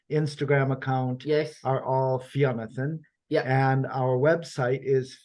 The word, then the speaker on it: Fionnathan: Fionnathan is spelled Fionnathan. So that's a mixture of Fionn with 2 N's and Jonathan. And I only worked out recently that they went to Fionnathan, like Jonathan.